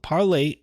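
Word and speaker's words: Parler: and they do par parlay uh contrary to popular belief i always call it parlor even though they pronounce the website parlay but it's spelled parlor p-a-r-l-e-r it's not up right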